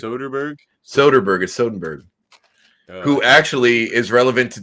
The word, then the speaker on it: Soderbergh: I've never seen Out of Sight, and I do really like Soderbergh, whose name you pronounced incorrect the entire time. What did I say? You also like Sodenberg or Sindenberg, or I can't remember.